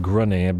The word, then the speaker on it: Grungni: I'm pretty sure it's pronounced Grunny, but I'm still gonna say it as I say it.